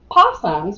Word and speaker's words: possums: of trivia here so possums we we don't pronounce the o it's sila but in